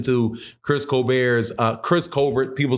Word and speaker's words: Colbert: Chris Colbert's uh Chris Colbert people say Colbert I read it the way that it's written like Colbert like because it's French I don't know if